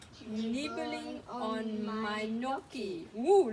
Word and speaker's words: gnocchi: There's a bright white gnat nibbling on my gnocchi. Ooh, lots of silent G, huh? Look, silent G, gnome, silent G, gnat, silent G, gnocchi.